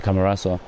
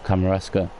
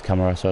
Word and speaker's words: Camarasa: Oh, and then he passes it straight to Camarasa. Or Camarasca. Didn't read his name properly. No, it is Camarasa, I said it right the first time.